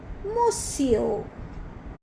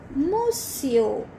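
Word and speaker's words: monsieur: first one word is to be pronounced like mosio mosio you can say again mosio you keep repeating this word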